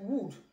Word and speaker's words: would: Then other words, like would, the L is also silent.